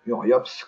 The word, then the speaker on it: URIOPSS: ce site internet et uriopss comme ça se prononce avec deux aces à la fin et sinon pour le